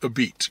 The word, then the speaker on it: Apizza: Grand, spelled Apizza, pronounced a beat, Grand Apizza Shoreline.